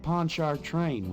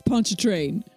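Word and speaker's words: Pontchartrain: Ponchar train. Ponchar train. Mosley, you're supposed to be from Rounder. You should know how to say it. I I've I am from Canada. I know it's punch a train.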